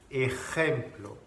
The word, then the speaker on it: ejemplo: Donc le J en espagnol, en français ça se prononce J, en espagnol, ¿vale? Jota. Par exemple, le mot exemple, ejemplo. Ejemplo.